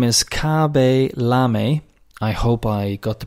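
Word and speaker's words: Khaby Lame: is k-h-a-b-y and lam-a-l-a the typical pronunciation perhaps in english would be lame that's how we pronounce l-a-m-e but i'm sure it's kavelam anyway he is the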